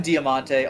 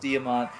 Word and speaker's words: Diamant: freaking Diamante I'm sorry I call him damante on purpose to piss people off I know it's pronounced damont the thing is that